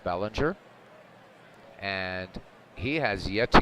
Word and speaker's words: Belanger: Mark Ballinger steps in I know some people uh pronounce it Belanger I'm gonna go with Bellinger and he has yet